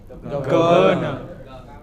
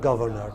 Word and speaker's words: governor: So, it is not governor, the correct pronunciation is governor, not governor.